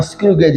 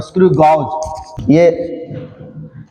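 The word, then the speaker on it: screw gauge: आपको वो पढ़ना है स्क्रू गेज। इसके नाम के प्रोनाउंसिएशन में काफी गलती होती है, लोग इसको बोल देते हैं स्क्रू गॉज। ये स्क्रू गॉज नहीं है, स्क्रू गेज है।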